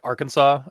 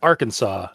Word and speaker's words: Arkansas: Uh, the French added a silent s to make the word plural in their language, resulting in the pronunciation that sounded like Arkansas to English speakers.